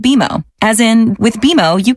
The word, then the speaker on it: BMO: You'll be seeing us around soon, and when you do, I bet you'll call us BMO. Don't worry, it's more common than you think, but we actually pronounce it BMO.